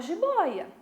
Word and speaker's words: jiboia: Onde é que está a sílaba tônica? No O. Ela é uma paroxítona.